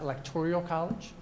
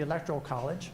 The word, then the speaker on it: Electoral College: to pronounce the term it's not electorial College it's not electoral or excuse me electrical College it is the Electoral College okay uh some people